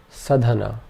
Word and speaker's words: sadhana: Sadhana. All three vowel sounds in this are short, so our three syllables are sa, dha, na.